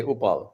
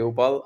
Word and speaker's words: Uppal: questions in one yeah my last name is pronounced like you're saying oops so as long as you can you can say oops you can say oopal so it's upal and um you know